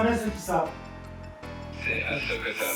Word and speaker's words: Ahsoka: C'est Ahsoka Tano. 5. Ah non, Tristan, arrête. Ahsoka Tano.